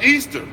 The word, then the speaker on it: Ishtar: It says this is Ishtar, pronounced Easter.